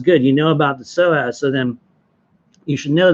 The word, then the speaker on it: psoas: energy is going to be down in your psoas muscle. It's spelled PSOAS.